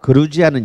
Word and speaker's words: 그루지아: 그러니까 이미 이제 3,500년 경이 되면 여기에서 시작했던 와인이 아까 그 그루지아는 영어로는 조지아예요. Georgia. 그걸 조지아를 읽으면 촌놈이고요. 그거는 이제 트럼프나 조지아를 읽는 거고, 우리는 그루지아라고 읽어야 됩니다.